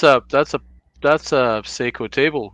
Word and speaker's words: Seiko: to see that that is how you say Seiko yeah someday I'll cover uncover it and uh